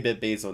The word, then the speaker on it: BitBasel: Oh, did I say it right? Yeah, I didn't say Basil. Yeah, but I'm gonna say BitBasel now.